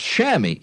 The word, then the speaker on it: chamois: you look it up it's spelled c-h-a-m-o-i-s Chamois it's a it's shammy so I take the